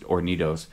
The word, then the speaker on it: Hornitos: One time, my guitar player in Into Existence, he had this bottle of Hornitos, depending on how you want to pronounce it. But the H is silent in Spanish, so it's just Hornitos.